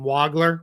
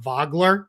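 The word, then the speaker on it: Wagler: Yes, that's how you say it. Is not Waggler. It's Waggler. I promise you is also not Vogler as some have tried to kind of make it out like he's this German kid.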